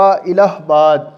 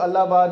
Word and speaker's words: الہ آباد: علامہ اقبال نے خطبہ الہ آباد، اس کو الہ آباد نہیں کہنا، الہ آباد درست تلفظ ہے، مسلمانوں کے لیے ایک